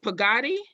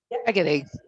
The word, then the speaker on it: Peggotty: of reiterated something that, is it Pagadi? Is that how I say your name? Peggotty. Accent on the first syllable.